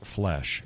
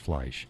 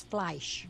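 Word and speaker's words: Fleisch: and it's like yeah in the German language when you have e and I together you pronounce the I yeah this and this but this is from Sisters of the spoon and they got it wrong because f-l-e-i-c-h is not flesh it's pronounced flash it's flash right I'm I'm trying to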